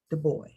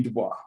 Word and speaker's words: Du Bois: Du Bois. Oh, you put an S on the last name and you don't even pronounce the S.